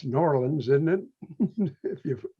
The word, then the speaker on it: New Orleans: It's New Orleans, isn't it? If you pronounce it properly.